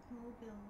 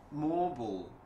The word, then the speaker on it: mobile: 모빌. 모빌이에요? 아니면은 모 몰이에요. 자, 모블. 읽어보세요. 네, 모블. 그렇지, 제이슨 킴. 하, 대박이네. 아, 제이슨 킴 너무 좋아. 모블, 모블이라고 읽으셔야 돼요.